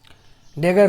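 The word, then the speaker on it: dagger: उसके बाद डबल जी को क्या पढ़ रहे हैं, गा, और ई आर को रा पढ़ रहे हैं, ई साइलेंट है तो रा, डेगर हो गया।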